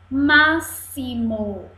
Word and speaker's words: máximo: Máximo. Olha. Máximo. Três sílabas e o X está com som de S.